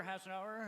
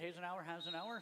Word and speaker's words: Hasenauer: Hasenauer, I believe is how you say it. Hasenauer.